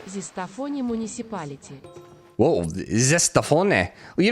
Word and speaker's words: Zestafoni: Zestafoni municipality. Zestafoni. Dude, that's awesome. That is my new favorite town in the world. Zestafoni. It's like rigatoni, but it's Zestafoni. It's like zesty rigatoni.